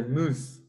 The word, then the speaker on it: Meuse: Se dice Mus.